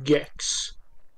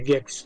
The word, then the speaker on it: Gex: è gex 2 ma non si dice G come gex 3D o semplicemente Enter The geeko Ma si chiama jax gli do la pronuncia inglese gex ma è meglio jax secondo me gex Vabbè allora iniziamo sì